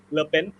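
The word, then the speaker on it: Le Pen: governance okay and foreign how do we pronounce the name correctly collectly lipping lepen okay and for her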